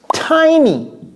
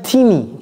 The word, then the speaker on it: tiny: It's tiny. Vous voyez la prononciation, j'ai pas dit teeny, tiny.